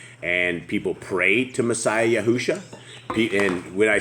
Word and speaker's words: Yahushua: they cannot pronounce it Messiah yahusha it's like Joshua with a Y this is what we're